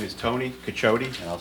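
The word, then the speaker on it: Cacciotti: My name is Tony Cachote and I'll spell it C A C C I O T TI.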